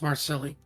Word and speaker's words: Marseille: It's pronounced Marsilli.